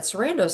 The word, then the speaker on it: Sarandos: But I also think the thing about Ted Sarandos says he is head of Netflix and nobody